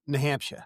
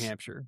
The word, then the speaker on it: New Hampshire: So now you say that you're from New Hampshire which is how Texans say that. Yeah. But when I'm in New Hampshire, they say it like it's one word.